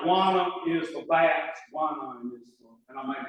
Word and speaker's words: guanine: Kind of like guana is for bats, guanine is for, and I may be pronouncing it wrong. It's spelled exactly like iguana for bats, except I-N-E on the E. Guanine.